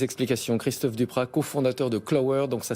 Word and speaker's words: Qlower: beaucoup pour ses explications christophe duprat cofondateur de clowe heures donc ça s'écrit qu elle au w es application qui